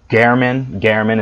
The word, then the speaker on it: Gehrman: She fought Gehrman is how you pronounce it.